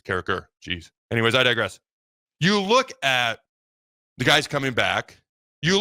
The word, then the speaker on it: Carriker: There's no T in my name. It's not Carriker. It's Carriker.